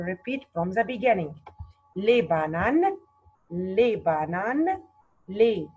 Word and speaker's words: bananes: What is the silent letter here? S. Bravo, because it's the last letter. Mark it in your book, please. S here is silent letter.